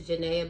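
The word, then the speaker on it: Jahna: know like I said my name is janaa but that's spelled j a h n a Ya A J God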